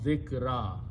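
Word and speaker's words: ذِكْرًا: When you stop, you say dhikr or zikran, but when you stop, you pronounce dhikra.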